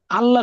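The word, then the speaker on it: الله: তারপরে আসেন আল্লাহ শব্দের লামের উচ্চারণ এবং র এর উচ্চারণটা কেমন হবে।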